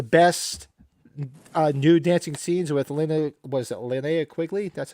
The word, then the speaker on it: Linnea Quigley: It's got one of the best nude dancing scenes with Linnea Quigley?